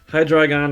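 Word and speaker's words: Hydreigon: on the board but high dragon is right below uh accent on the dry part and the the previous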